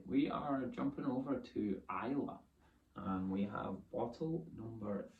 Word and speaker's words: Islay: Most people say Islay. But Islay is how it's pronounced.